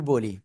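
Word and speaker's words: ب: দুই ঠোঁট, এই যে দুই ঠোঁট না, এই দুই ঠোঁটের ভিজা অংশ থেকে। কি বলেছি? বলেন তো কি বলেছি, দেখি কেমন পারেন। দুই ঠোঁটের ভিজা অংশতে। ওকে, এবার আবারও বলি, শোনেন। দুই ঠোঁটের ভিজা অংশ থেকে এক আলিফটা নিয়ে উচ্চারণ করব আমরা।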